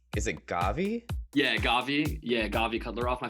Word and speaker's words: Gavi: first of all how do you pronounce your full name because on your instagram it's is it gavi yeah gavi yeah gavi cuddler off my full name's actually